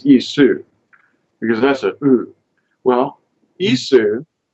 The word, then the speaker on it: Esau: ISU this guy see it isn't really Esau but it you know it's ISU because that's a well